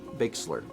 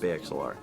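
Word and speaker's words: BayXLR: Also, for future reference, my name is pronounced Bakesler." Oh. I'm pretty sure I have very consistently for probably near as hair 2 years pronounced it Bay XLR.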